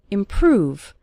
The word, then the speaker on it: improve: start seeing your English improve stress on the second syllable improve over time you'll